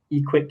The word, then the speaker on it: EQ8: Uh we are from Equate Capital. This EQ8 uh we pronounce as Equate. So we are from Equate Capital.